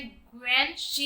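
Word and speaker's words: guanxi: फिर लास्ट में जो स्कूल आता है वो एशियन ग्यूनेक्सी स्कूल। तो ग्यूनेक्सी का यहाँ पर प्रोनाउंसिएशन है ग्वेन शी, is essential a philosophy for conducting business and other interpersonal relationship in the Chinese.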